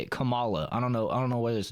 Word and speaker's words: Kamala: and they're trying to win an election for Kamala Harris. I got to say it right. The way that they taught us how to say it, Kamala.